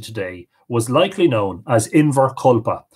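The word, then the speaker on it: Inbhear Colpa: John is situated today was likely known as invar collpa spelled different ways that the primary spelling here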